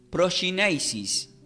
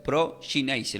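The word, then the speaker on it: προσκύνησις: Y del griego se pronuncia como proskynesis. Así se pronuncia, proskynesis, lo voy a deletrear, P-R-O-S-K-Y-N-E-S-I-S, que significa adoración y reverencia.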